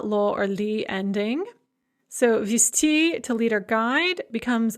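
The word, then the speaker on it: везти: And note with vizti, which of course is pronounced visti, the z is pronounced as sa in the masculine form because it is at the end of the word.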